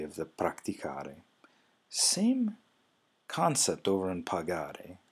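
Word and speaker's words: praticare: You would go from practico, and then on the next one, the two form, you would add an I, and that would end up being pronounced pratici. But if you go back up to the infinitive, you have practicare with a hard C sound there. Well, in order to bring that back, you have to add an H.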